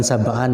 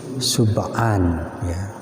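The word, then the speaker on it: سبعا: ya krawu figur yaumin Subhan ini bukan sabahan ya tapi Subhan membacanya itu dalam setiap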